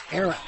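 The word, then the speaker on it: Ehrin: His first name is spelled E-H-R-I-N. Aaron.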